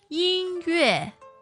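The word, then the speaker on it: 音乐: 音乐音乐 So first and fourth tone.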